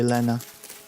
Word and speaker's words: Lena: I would say Lena. The letter E is always pronounced as E.